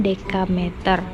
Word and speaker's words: dekameter: Ada kilometer atau km, hektometer atau hm, dekameter, dam ini bacanya dekameter.